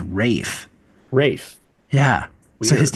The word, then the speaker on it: Ralph: Nehru's guy, it's Ralph, which I thought was Ralph. Ralph. Yeah. Was it Ralph? No, it has been explained to me. Another way to pronounce his name is Rafe.